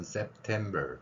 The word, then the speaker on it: September: 발음하는 방법은 September 이렇게 표현하면 됩니다. 맨 마지막에 받침으로 되어 있는 리을은 흘리거나 뚜렷하게 발음하지 않아도 됩니다.